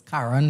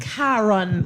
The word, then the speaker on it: Karan: My name is Karan. Karen. Oh gosh, I almost call it Karen again.